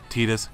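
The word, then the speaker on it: Tidus: detecting me cloud squall Titas yes i pronounce adidas it's canon dissidia proved it and then there's lightning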